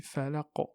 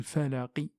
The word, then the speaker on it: الفلق: Donc ici, on ne dit pas bi rabbil falaqi. Vous trouvez jamais ça dans le Coran. Et même dans le parler arabe, c'est-à-dire parler de l'arabe classique d'à l'époque, ça c'est une erreur. C'est considéré comme une erreur.